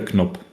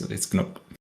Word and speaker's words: Knop: I would have guessed it's Nop. yeah, I would have guessed that too. Yeah. Yeah, where I'm from, it's Knop.